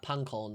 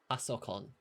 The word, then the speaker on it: パソコン: Pankon, that's computer. パソコン Pasokon.